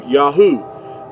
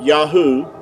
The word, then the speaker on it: Yahuah: These first three letters here, going from right to left, is going to give you Yahuah. Yahuah.